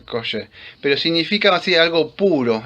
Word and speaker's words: kosher: Creo que se pronuncia kashu, kosher, pero significa así algo